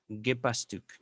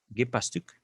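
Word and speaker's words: Gepäckstück: La vocal que sigue a la P se pronuncia prácticamente igual tanto si es E como si es A.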